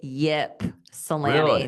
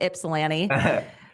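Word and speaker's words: Ypsilanti: so I know that you that it's pronounced Ipsalani for you. It is almost almost almost I think by most people in North Dakota because North Dakota has one as well. Most people say yip salami with the y.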